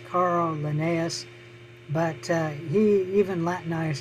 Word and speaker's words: Linnaeus: it was carl linnae and uh usually it's pronounced carl linnaeus but uh he even latinized his first name